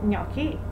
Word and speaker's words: gnocchi: gnocchi at least once on the menu so gnocchi and i bet there's nobody pronouncing the donkey i never heard that so